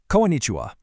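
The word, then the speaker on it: こんにちは: Konnichiwa.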